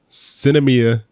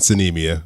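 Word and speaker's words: Sinemia: to movie past nuts I've heard a pronounced Cinna Mia and suni Mia I whichever pronunciation you prefer to go with it's a weird name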